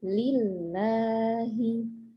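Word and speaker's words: لِلّٰهِ: Tapi kalau di Al-Qur'an lam kedua selalu dibaca panjang. Jadi nanti di sini membacanya lillahi. Lillahi. Nah, jangan terkecoh kalau di sini fathahnya itu fathah biasa. Jadi seperti kesannya pendek, gitu ya. Nah, tapi sebetulnya meskipun fathahnya fathah biasa, tetap harus dibaca panjang lam keduanya.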